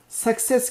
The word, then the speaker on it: success: Burada da success kelimesi. Bu gerçekten çok tuhaf bir kelime. Burada şu yan yana olan iki tane C'nin ilki K sesi, ikincisi S sesi.